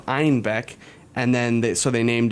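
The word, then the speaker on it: Einbeck: through germany into munich people started mispronouncing the name of the city to einbach instead of einbek and then so they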